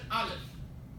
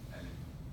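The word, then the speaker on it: ألف: Now someone said Aleph. Who said Aleph? No, Alif. Huh? Alif. Oh, okay. Some students say, sometimes, Aleph. Aleph is Hebrew. In Arabic, Alif or Alif.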